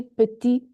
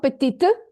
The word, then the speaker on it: petit: Petit, not petite, petit.